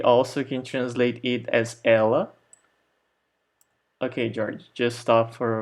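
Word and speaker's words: ela: other english-speaking countries so Ella the name of a girl for example has the same pronunciation as the pronoun in Portuguese so ella ella okay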